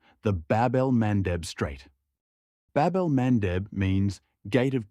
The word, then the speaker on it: Bab-el-Mandeb: It's a choke point most people can't even pronounce. The Bab-el-Mandeb Strait.